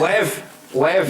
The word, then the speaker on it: lev: 200 lev. Lev, Lev, L-E-V. Lev. I don't know how you pronounce Yeah, that's it, right.